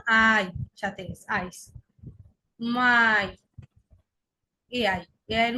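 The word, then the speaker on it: Mai: মাই। এআই, এআই এর উচ্চারণ কি হয়ে গেছে?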